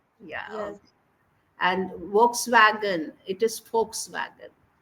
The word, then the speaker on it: Volkswagen: and Volkswagen it is Volkswagen Volkswagen it is starting with v but then it is Volkswagen F sound will come okay then por por